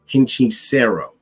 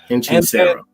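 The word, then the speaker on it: Hechicero: By the way, his name is pronounced Hinchisero. Thank you. Hinchisero.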